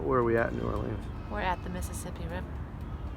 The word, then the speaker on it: New Orleans: Actually, people say don't say that. They say New Orleans. But where are we at in New Orleans?